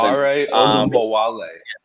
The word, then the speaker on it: Dare Ogunbowale: And then they have, I can't even pronounce the other guy's name on Badooms or something. Dare Ogunbowale.